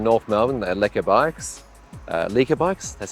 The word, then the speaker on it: Lekker: And when I did that, I kid you not, I decided, a bit crazy, I'll ride from North Melbourne, the Lekker Bikes, Lekker Bikes, that's how you say it, yeah, Lekker Bikes, all the way to home.